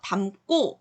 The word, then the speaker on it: 담고: 그래서 담고 발음하기도 힘들어요. 그래서 된소리가 나서 담고 이렇게 발음을 하는 거예요.